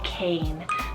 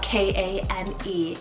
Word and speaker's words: Kane: Now Cain, depending on how you pronounce it from where you are in the world, it is a Celtic, a Japanese, and Hawaiian rooted name. It's also pronounced as Kane, but Cain is what I heard, and Cain means warrior,